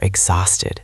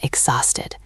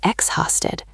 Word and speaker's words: exhausted: So, you can say I am exhausted. Listen to the pronunciation. The H is silent. We do not say exhausted.